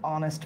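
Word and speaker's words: honest: আছে তাহলে সিতে কোন ঝামেলা আছে নিশ্চয়ই এ অনেস্ট ম্যান এইচ থাকলে উচ্চারণ যদি পরে একটা ভাল থাকে তাহলে এটা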